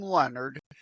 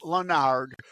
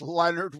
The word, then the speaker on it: Lenard: for having me and yes it's Leonard it's not French people want to pronounce it lonard but it's Leonard without an and the middle initial in there